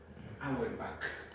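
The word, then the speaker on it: Auerbach: Se escribe our bats bats ch. Pero se lee Hourback, el plexo nervioso de Hourback.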